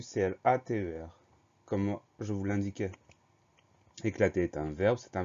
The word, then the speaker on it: éclater: Éclater, E accent aigu, C-L-A-T-E-R. Comme je vous l'indiquais, éclater est un verbe, c'est un verbe en ER.